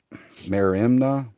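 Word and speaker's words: μέριμνα: In biblical context, New Testament, mer merimna, hopefully I'm saying that right once again, is often That looks right. associated with I'm looking at it here. yeah, Merimna is the pronunciation.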